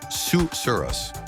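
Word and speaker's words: susurrus: sounds almost as soothing as its meaning suurus pronounced suurus this refers to a soft murmuring or rustling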